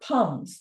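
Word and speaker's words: pome: fruit examples there are Pals pronounced like the French word for apple the fruit with cores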